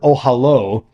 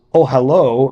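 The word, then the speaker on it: אהלה: means uh tent so ohalo means his tent which is pronounced consistent with its usual spelling as if the last letter were the letter VAV in Hebrew the masculine possessive suffix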